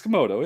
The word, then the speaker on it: Komodo: Is it Komodo? Am I saying it correctly? Yeah. Yeah. Komodo. It's Komodo. Yeah.